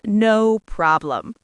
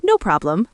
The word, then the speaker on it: no problem: Right, so it's not no problem. No, that sounds too stiff, too robotic. It's more like no problem with the stress on prob.